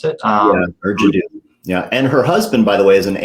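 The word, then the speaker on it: Ur Jaddou: Is that how you pronounce it? Yeah, Urjado.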